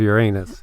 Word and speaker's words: Uranus: of the day and usually i pronounce this a certain way but i'm going to pronounce it the other way we have mysterious x-rays that are flaring out of your anus oh my gosh it's